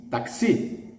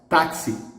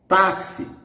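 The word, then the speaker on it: táxi: last syllable the stress the stress here is in the penultimate so it's an exception taxi okay the word virus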